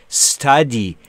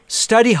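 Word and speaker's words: study: خوندن دقت کنید بچه‌ها باز یکی از لغت هایی که شدیداً به اشتباه تلفظ میشه استادی استادی نیست قربونتون برم استادی مطالعه کن بخون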